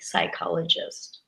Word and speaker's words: psychologist: a famous psychologist and that also begins with the silent p psychologist another crazy one with